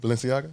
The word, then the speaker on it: Balenciaga: He's like, no, these, I don't know how to pronounce it. How you say it? Balenciaga?